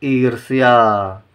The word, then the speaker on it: ईर्ष्या: इसका उच्चारण यहाँ पर नहीं करेंगे, सही। इसका उच्चारण इस आधे अक्षर से पहले करेंगे, पढ़ेंगे ईर्ष्या, ठीक है।